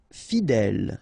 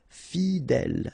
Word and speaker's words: fidèle: Fidèle. Final E, not pronounced, so accent grave here. L, fidèle. Fidèle.